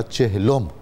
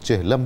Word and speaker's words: چہلم: رہے ہوں گے تو اس کا درست تلفظ ہوگا چہلم، لیکن جب یہ لفظ اردو میں آیا ہے تو اردو کا اپنا ایک ساخت اور مزاج ہے، تو ہم اس کو بالعموم چہلم کہتے ہیں، تو اکابر زبان و ادب نے اس کو چہلم کہنا بھی درست قرار دیا ہے۔ ہم بہت سارے